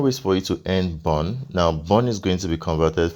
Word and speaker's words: BRN: able to B Bon BR RN is actually pronounced Bon and you're going to be able to redeem